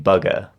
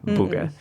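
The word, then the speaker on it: Buga: In my head, I was saying bugga, but I feel like that's absolutely That's never what it would be. Okay. Booga.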